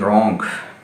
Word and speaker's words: wrong: इसमें W silent है, डब्ल्यू के बाद जब भी आर आएगा डब्ल्यू साइलेंट हो जाएगा, जिस तरह rate, WRIT rate, WRITE right, ठीक है, WRONG रॉन्ग, तो WRING रिंग, ठीक है जी।